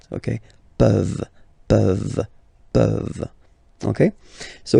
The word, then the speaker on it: peuvent: Okay, as usual, this ending, this ENT ending, you write it, you don't pronounce it. Okay, peuvent.